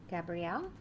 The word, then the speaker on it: Gabriel: So, okay, so I'm going to call in the energy of Gabrielle. Gabriel. It's pronounced both ways, I believe.